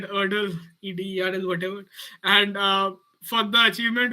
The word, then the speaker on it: Ederle: The lady is pronounced by Ederl, Ederl.